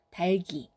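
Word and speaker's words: 닭이: 네, 달, 그리고 그는 이와 만나서 기를 만듭니다. 달기, 달기.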